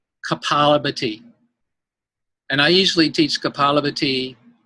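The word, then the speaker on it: kapalabhati: Kaphlabhati. Yeah. Can you pronounce that again? Because I always pronounced it kaphlabhati, and you're saying, can you say it again? Because it's Kaphlabhati.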